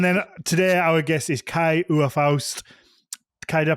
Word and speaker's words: Kai Uwe Faust: And then today our guest is Kai Uwe Faust. Kai, did I pronounce that right?